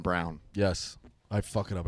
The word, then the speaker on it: Braun: Disrespecting my guy which is what Christian he Braun? is. I agree with that. There's not much pieces on that team. I just don't think they're athletic enough. I believe it's pronounced Christian Brown.